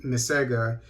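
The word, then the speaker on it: MICEGA: in the gambia uh m-i-c-e-g-a is probably pronounced mesega is made up of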